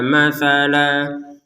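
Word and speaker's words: مثلا: Tapi karena ini hukum tajwid sehingga untuk yang lam alif ini kita baca la, bukan lan, dibaca la yang panjangnya 2 harokat.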